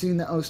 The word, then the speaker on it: osu!: Peps Man kind of beat it into my head that it's os, it's os, it's os. Pronounce it as os. You can't pronounce it as Osu, it's os.